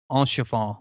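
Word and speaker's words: Haurchefant: But I loved, and I always butcher his name, Enchefant, or whatever his name is, Enchefant. Yeah. It starts with an H, and you don't pronounce it, and ends with I love his voice, and I love Almeric's voice.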